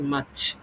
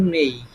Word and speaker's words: May: তো মাছ।